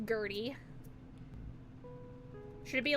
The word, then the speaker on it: Gertrude: It's pronounced Gertie.